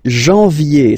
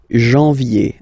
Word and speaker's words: janvier: But anyway, janvier. So that's the way to pronounce it. Janvier, A-N, en, okay? And then yé, yé, yé. Janvier.